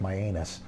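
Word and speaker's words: Mianus: spell it out, M-I-A-N, I think it's, well, it's pronounced Myanus.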